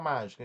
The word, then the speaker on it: mágico: Vamos separar mágico. Aí fica mágico. Má, foi aqui que levou mais mentidão para pronunciar.